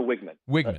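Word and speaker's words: Weigman: way did we say Wegman or we say Wegman how do you say his last name it's Connor wigman okay so is is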